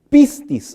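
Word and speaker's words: πίστις: La palabra fe en este verso significa pistis, así se pronuncia del griego, pero también significa pistín.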